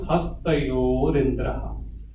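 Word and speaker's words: हस्तयोरिन्द्रः: So it is Hastayoho Indra. Hastayoho Indra. So it becomes Hastayorindra. Hastayorindra.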